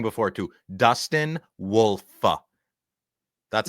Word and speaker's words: Wolf: No, like the like the dog Wolf. Wolf. No, you No, you were saying it wrong before, too. Dustin Wolf.